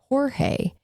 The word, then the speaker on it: Jorge: George was getting arrested they asked him uh the pronunciation of his name and he said it was Jorge but he refers to be called George so that's how we'll be